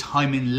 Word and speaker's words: Hyman: it full name is Hyman Lee and it rhymes with Simon we uh he pointed